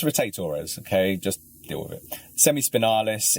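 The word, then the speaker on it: rotatores: muscles called the like rotate Torres and there's different pronunciations I might add before anyone anyone writes in and says why she was called it's rotate Torres okay just do it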